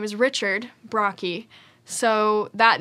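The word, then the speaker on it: Brocchi: for my last name my last name is brocky which is spelled b-r-o-c-c-h-i uh so most people cannot sound it out um you'd be surprised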